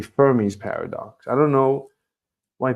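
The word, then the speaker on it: Fermi: talking about probabilities and the answers to the firmy Paradox are why are we landing on the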